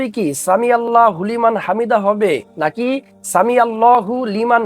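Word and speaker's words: سمع الله لمن حمده: যখন আমরা উচ্চারণটা করব সামি আল্লাহ হুলিমান হামিদা বলা যাবে না হুটা কিন্তু আলাদা সামি আলাদা আল্লাহ আলাদা লিমান আলাদা হামিদা আলাদা এখানে বলতে হবে সামি আল্লাহু লিমান হামিদা এখানে ওয়াকফ করা যাবে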